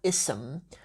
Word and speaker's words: اسم: I make as well, with the word ism, is that students pronounce it as if it has a hamzat qata'a on it, but it doesn't. It has a hamzat wasl.